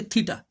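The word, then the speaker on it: theta: এটা as usual একটা Greek letter, সাধারণভাবে গ্রিক লেটার দিয়ে কোণের মানকে প্রকাশ করা হয়, থিটা, টিএইচই টি এ, প্রোনাউন্সিয়েশনটা হচ্ছে থিটা।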